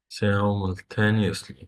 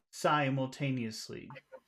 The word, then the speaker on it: simultaneously: okay simultaneously that's that that first syllable is pronounced Sai i e s simultaneously simultaneously can you say sa so can you say e e s simultaneously simultaneous simultanously okay simultaneously okay now do you